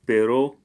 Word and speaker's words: perro: this and my dog perro pero with double r if it's only with one or it means but so mi hermana is